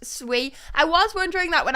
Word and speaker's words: Sui: is a small amount Jerome said sui is pronounced sui I was wondering that when I was saying